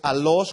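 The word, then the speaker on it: allos: otro totalmente diferente y otra palabra del griego que es alos con doble L y acento en la o que significa otro de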